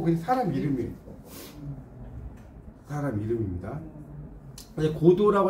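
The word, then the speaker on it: Godot: 고도라고 할때 이제 T자는 발음이 안 돼요.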